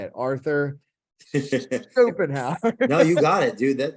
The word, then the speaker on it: Schopenhauer: Most people don't know about, and I can't even pronounce his last name. I'm afraid to say it. Arthur Schopenhauer.